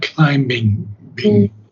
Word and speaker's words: climbing: of Worlds now climbing I don't think the B is pronounced but I can check it climbing yeah not climbing so climbing with foam